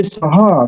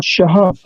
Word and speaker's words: Saha: one word one way, and another Gujarati speakers will say Saha, not Shaha. When Yes. we utter the name of our home honorable home minister, we say Amit Shah. But in Gujarat, they say Saha, sir, not Shah.